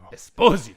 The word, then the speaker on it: Esposito: Desposito, which is how you say it.